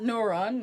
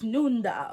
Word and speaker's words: Nunda: So it's not Noron, like a dumbass, it's Nunda. Okay, so they say Nunda.